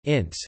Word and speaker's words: INSEE: The National Institute of Statistics and Economic Studies French, Institut National de la Statistique et des Études Économiques, abbreviated INSEE French pronunciation, INSEE, is the National Statistics Bureau of France.